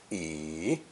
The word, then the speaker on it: 椅: Pronounced third tone, yi, yi.